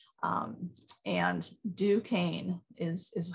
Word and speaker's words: Duquesne: people have no idea it's actually a french word and duquesne is is how it's